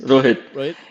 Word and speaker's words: Rohit: some uh so uh Rohit is that how you pronounce his name yes Rohit his his nickname is